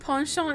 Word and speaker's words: penchant: Today I learned penchant is pronounced French.